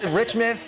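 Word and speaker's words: Reichmuth: We need to find out more, so we're going over to Rick Reichmuhl, right? I messed him up 3 times yesterday, and it's Richmith.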